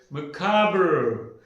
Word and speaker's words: macabre: What is this word called? Macabre? No. This has got 3 syllables. It is called macabre. This is called macabre. Macabre. 3 syllable sounds is there.